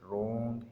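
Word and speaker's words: wrong: डब्ल्यू इज़ not pronounced at the beginning of the word followed by एन आर। अगर डब्ल्यू के बाद आर आ रहा है तो वो डब्ल्यू साइलेंट होगा।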